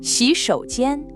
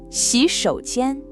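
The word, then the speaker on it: 洗手间: Just listen really carefully to his questioning tone. 洗手间, 洗手间.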